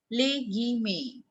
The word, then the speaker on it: guillemets: GUI is Guy and METS May. Les guillemets.